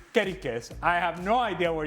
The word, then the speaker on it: Kerkez: And it cannot be Kerkez, it's Kerikez.